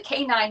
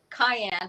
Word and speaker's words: cayenne: in the soup, and they were trying to tell me I was saying it wrong. So then I finally figured out I was saying it wrong, and I still have to remember I have to say cayenne.